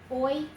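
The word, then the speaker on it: hoy: Since the H is silent, it's exactly the same sound as that was up there.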